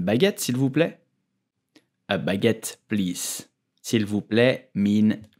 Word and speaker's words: baguette: So, how do you pronounce the name of this delicious bread? In French, we will say baguette, baguette, baguette.